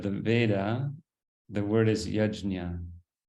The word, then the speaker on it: yajña: Veda the word is yajna it's spelled y-a-j Enya a yeah and uh you'll sometimes hear it pronounced yagya because it's hard for us to pronounce with our non-sanskrit tongues um but you know